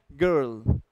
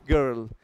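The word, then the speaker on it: girl: और कॉमिनेशन भी है गर्ल गर्ल जी आई आई आर एल इज गर्ल and then her self तो इसमें थोड़ा सा आपको राउंड करना पड़ेगा एंड देन यू हैव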